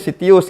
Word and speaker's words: Citius: Abstrak tapi ternyata bisa dibacanya Sitius gitu ya.